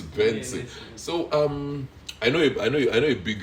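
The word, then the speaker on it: BNXN: The first day I saw the name, I was like, how do we pronounce this? Is this Bongson or what? Like Bongson. But later I got to know that it's Benson.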